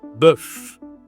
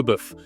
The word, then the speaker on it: bœuf: cette viande, c'est le bœuf. Bif en anglais, le bœuf. OK. Toujours le e comme l' œuf, la même voyelle pour prononcer ce mot, le bœuf.